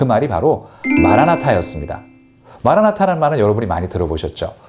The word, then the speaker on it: 마라나타: 하니까 주님께서 오셨다라고 말하는 그 마란아타도 사실은 그럴 수 있겠다, 틀린 건 아니겠다라는 생각은 들지만 성경을 두루 읽어보면 전자보다는 후자가, 그러니까 마란아타보다는 재림의 소망을 담은 마라나타, 주여, 우리 주여 오시옵소서라고 읽는 것이 훨씬 더 타당해 보입니다.